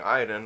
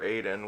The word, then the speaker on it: Aiden: an animated this but i am playing iden or aiden which is how it should be pronounced because we're not french um is like this